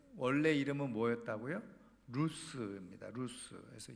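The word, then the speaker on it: לוז: 그 원래 이름은 뭐였다고 루스 있니다 루스 그래서 히브리어로 루스인 영어로 그대로 발음하면 루즈가 되겠죠 자 그런데이 루스의 뜻이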